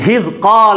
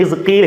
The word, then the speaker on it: حزقال: نہیں تھے بلکہ حضرت حزقال علیہ السلام تھے۔ انہیں حزقیل حزقائیل مختلف پروننسیشن کے ساتھ پڑھا گیا ہے، سب سے درست اس کا تلفظ کیا ہے؟ حزقال۔ یہ ابھی اللہ کے